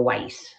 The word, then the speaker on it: Weiss: But I fell in love with this particular designer, the Weiss, like ice.